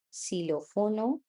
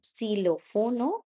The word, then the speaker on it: xilófono: So, silófono equis. Equis is the name of the letter. Silófono is how I'm going to pronounce it in a word.